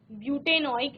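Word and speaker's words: butanoic: इसके साथ आप एक beautenoic एसिड paintainoic एसिड इस तरह से आप उसको प्रोनाउंस करते हैं चलिए जल्दी से ये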